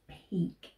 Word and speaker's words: Peake: And he has also got an E at the end, but we don't pronounce that as an E. So it's Peak, Tim Peak.